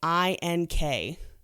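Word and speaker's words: Eyink: a man named dan aync and i think i'm pronouncing that correctly it's mean yeah e y i n k ink is these he's the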